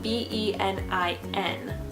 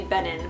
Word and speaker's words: Benin: It is the capital city of Edo State in Nigeria, and it's spelled B-E-N-I-N. So I would say Benin, but I think it's pronounced Benin.